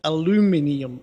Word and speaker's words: aluminium: Uh the one the aluminium, is that how you say it? Yeah. Aluminium. Uh I think you say aluminum or or some strange something like that over there.